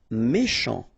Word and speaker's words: méchant: Méchant. Final T not pronounced. Then C-H, ch, chant, méchant.